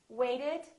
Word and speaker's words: waited: So this ED has an extra syllable. So we actually say waited.